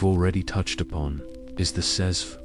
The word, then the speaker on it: cezve: The star of this particular show, as we've already touched upon, is the cezve, pronounced jezva, sometimes also known by its Arabic name, ibrik.